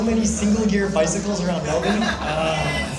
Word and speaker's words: Melbourne: single gear bicycles around Melbourne. Melbourne. Wait, I should say it like an American. Melbourne. Listen, if you guys don't want to say the R, just don't write the R there.